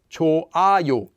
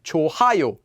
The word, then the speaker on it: 좋아요: consonant eung for example chuayo is pronounced as cho ayo and not as chohayo and we learned that